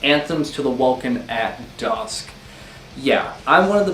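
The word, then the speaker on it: Anthems to the Welkin at Dusk: ending nightside eclipse oh what sorry i totally mispronounced that so wrong it's anthems to the welcome at dusk yeah i'm one of the people that prefer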